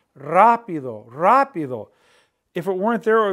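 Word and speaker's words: rápido: why is it there it's telling you when you pronounce the word to stress the a rapido rapido if it weren't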